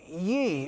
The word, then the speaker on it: Ye: That's because Kanye West has petitioned to legally change his name to Ye, or perhaps it's pronounced Ye, but we're talking about the letters Y-E.